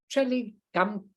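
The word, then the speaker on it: Traleg Kyabgon: Okay, so I'm going to tell you a little bit about Trele Gamchakon. That's how you pronounce it.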